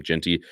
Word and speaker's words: Jeanty: I mean, Ashton Jeanty, or how we say his name, Genty, he's a freak, super good.